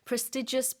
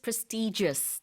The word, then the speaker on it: prestigious: 토마토 토메이토 하는 것처럼 prestigious prestigious 다 가능합니다 짧게 길게 다 가운데 아이 발음을 다르게 할 수 있고요 의미는 인류의 무엇무엇이란 뜻인데